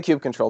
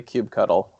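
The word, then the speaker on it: kubectl: this actually interesting one is it cube cuddle or cube control what eyes acutely Brendan on the right way to say it tube control that's what I say I say cube control but I know plenty of people who say cube cuddle but Ivo said cube control that was a patrol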